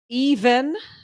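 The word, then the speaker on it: Øyvind: His name is Even, but it's spelled Oyvind.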